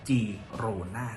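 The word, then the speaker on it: Girona: o n a ครับ ควร จะ ต้อง ออก เสือ ว่า g rona นะ ครับ เพราะ ว่า ตัว G ใน ภาษา กาตัน นะ ครับ ออก เสียง เป็น จ่อ จ่าง ซึ่ง จะ แตก ต่าง จาก ตัว G ใน กสาน หรือ ภาษา สเปน กลาง ที่ จะ ออก เสียง เป็น คอ ควาย หรือ คอ ระฆัง นะ ครับ อย่าง เช่น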